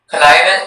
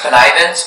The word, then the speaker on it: connivance: Connivance, it can be pronounced connivance or connivance.